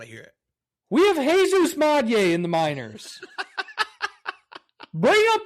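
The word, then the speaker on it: Jesús Made: You said his name wrong. It's Jesus Made. Come on. Jesus Made. I don't actually know if that's correct saying, but no, it is Jesus Madye.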